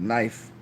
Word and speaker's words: knife: are not heard so in the case of the word knife K is not heard well there is a